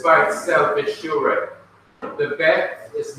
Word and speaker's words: Beth: Beth, which is pronounced Beth because it has a dot in the middle of the letter, has a B sound. Book, as in boy. Book, as in beautiful. Book, as in beach.